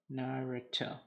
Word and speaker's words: Naruto: walking creation says okay you guys say the first one as far as pronunciation good so naruto cool naruto uh okay you guys all right cool i wasn't crazy i wasn't crazy i was saying it right all along yes yes it is